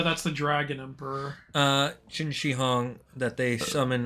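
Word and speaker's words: Qin Shi Huang: They summon uh Oh, it's pronounced Chini. Yeah, Ching Xihong. I always get Yeah, that's the uh that's the dragon emperor. Uh Chin Xihong that they summon u armies and just have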